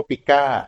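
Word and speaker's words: pica: กั้น คอก พิกร พวก นี้ เค เรียก ว่า ปิก้า ซึ่ง ใน คน ก็ มี เช่น กัน ปิก้า เนี่ย สะกด p i K นะ ครับ ปิก้า ปิก้า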